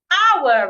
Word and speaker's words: hour: Hour. Remember silent H words? The H is silent.